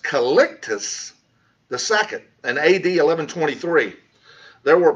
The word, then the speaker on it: Calixtus II: by the popes, was called by, and that's pronounced Calixtus II, in AD 1123.